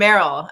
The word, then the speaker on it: Meryl: can we tell you how it's Terrell and Meryl actually which is very wonderful because I have a terribly hard to pronounce name it's Irish and people always think I'm a guy and now that Meryl and I have been in Partnership together I'm just like oh it's Terrell and Merrell and people instantly get it um so just so